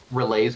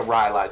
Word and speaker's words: Rylai's: Relays Crystal Scepter. Okay, thank you. I know some people say it Rylai's, but I say it Relays. It is pronounced Rylai's. Okay.